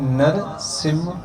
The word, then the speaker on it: नरसिंह: यहां सिंगल कहते हैं सिंह नहीं होता सिम है जो प्रनंसीएशन है जो उच्चारण है नरसिम हां ठीक है जो